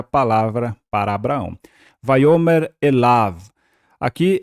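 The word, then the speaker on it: אֵלָיו: bem aqui esse Av lembre-se que não precisamos pronunciar o yod aqui ele é mudo então é elav para el e Av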